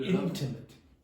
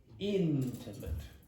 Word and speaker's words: intimate: the timate antim created intimate antim no no intimate no not in Intimate yeah you keep pronouncing the vowels in English like French TRS I take intimate